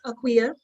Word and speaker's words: Akua: diasporan African doesn't always know all the proper pronunciations of things when we reclaim our African names. So I'm aware that it's Akua, and most of the dialects on Ghana, in the country of Ghana, I should say.